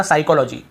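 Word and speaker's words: psychology: यहां पे हमने पढ़ा साइकोलॉजी साइकोलॉजी यहां पर भी पी को नहीं पढ़ रहे यहां पर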